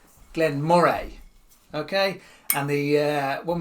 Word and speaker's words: Glen Moray: Not Glen Murray, Glen Mor.